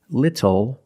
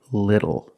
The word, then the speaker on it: little: When you see TLE or TTLE, phonetically the T is between vowels. And for this reason, the T changes to a fast D in American pronunciation. That's why we do not say little, we say little.